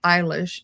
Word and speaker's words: Eilish: And I looked up how to pronounce her name, and it's Eilish.